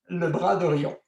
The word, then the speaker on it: Le Bras d'Orion: to call Orion's Arm, but which is actually pronounced Le Bras d'Orion.